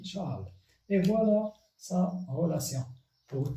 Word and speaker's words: Chasles: Il s'écrit Chasles, Charles, et se lit Charles.